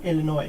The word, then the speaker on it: Illinois: What's crappy about Illinois? I think that's how you say it. It's a silent S, isn't it?